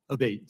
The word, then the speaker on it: Abate: We've heard it pronounced 3 different ways today in the hearing. Abate, Senator.